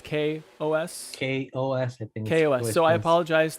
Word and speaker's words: KaOS: in the project and for confusing anybody about calling it chaos uh it's what it looks like to me there's chaos in the name of it okay it's kos apparently like how to pronounce it yeah well i i